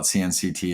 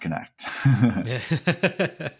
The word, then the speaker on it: CNCT: uh cnct app uh please don't call it cnct it's pronounced connect that's right yeah number